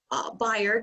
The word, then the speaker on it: Bayard: And Bayard, rhymes with fired, was born in Pennsylvania,